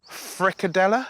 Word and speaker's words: frikadeller: So, in Danish, they pronounce it frikadeller.